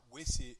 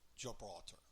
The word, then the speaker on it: Gibraltar: And she goes, Gilbraltar, which is Gibraltar.